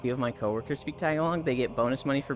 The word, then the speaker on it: Tagalog: The speakers of Tagalog pronounce it Tagalog, but Tagalog is the English way.